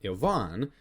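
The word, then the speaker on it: Иван: And so what Ivan's role is, or as his name is actually pronounced in Russian, Ivan.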